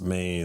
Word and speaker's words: me: It's spelled me but it's pronounced May.